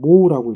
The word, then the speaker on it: mho: 그래서 얘는 뭐라고 읽으냐면 모라고 읽어요. 그 다음에 전류가 잘 못 흐르게 하는 성질 R 해서 이거는 뭐야? 저항이라고 하죠. 레지스탄스라고 해서 이렇게 붙여요. 오메가를 바로 적어놨어요. 이거는 오음이라고 읽죠. 오음, OHM, 오음. 모는 뭐예요? MHO. 그래서 모가 되는 거예요.